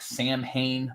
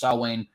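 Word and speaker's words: Samhain: salwain which is actually it looks like Sam Hayne but it is actually pronounced salwan which also is the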